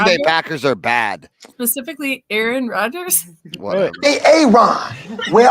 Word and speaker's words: Aaron: you say it the first time I said a a Ron because it's pronounced Aaron I feel like people were doing